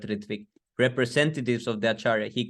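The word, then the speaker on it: ṛtvik: The letter starts off saying that Srila Prabhupada would appoint Ritvik, Bengali pronunciation of the word Ritvik, representatives of the Acharya.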